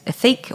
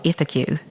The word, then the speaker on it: Ethique: Ethique is the poster child for a terrible name because nobody could say it and nobody could spell it. Everybody says Ethique or Ethique. It's French for ethical.